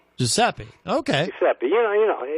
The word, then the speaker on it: Giuseppe: Giuseppe. Giuseppe.